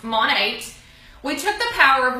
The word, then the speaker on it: Monat: So Monate comes from two words, and those words are modern and nature, and it is pronounced Monate.